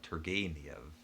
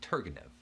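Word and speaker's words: Turgenev: comes to mind is tergeniev which i'm never even sure if i get right i initially i said targanev because i'd never heard anybody pronounce it before i'd only seen it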